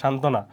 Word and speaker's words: সান্ত্বনা: হ্যাঁ, সান্ত্বনা বানান দেখবা বানান নির্ণয় আসে এবং উচ্চারণ কি সান্ত্বনা।